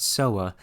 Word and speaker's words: sowwa: a plant known as soa. Of course, as always, the European alchemists mispronounced soa as soda, and so they called the alkali made from it soda alkali.